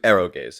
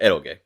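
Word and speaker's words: eroge: um marion is into arrow gaze as they're called in japan or errolgae is a more is a more accurate pronunciation not totally accurate because you know i'm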